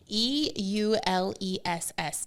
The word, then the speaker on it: Euless: EULESS, Texas.